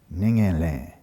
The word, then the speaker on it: ningen le: Ningen le. That's how you say it, ningen le.